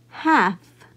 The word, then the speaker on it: half: is L in LF every time I have F following an L I will not sound out the letter L so this word is pronounced half next it says read